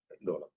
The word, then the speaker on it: Dolam: Dolam, it is not Doklam actually. Doklam is the term which was used by the media and caught on. It's Dolam, pronounced Dolam in Bhutanese.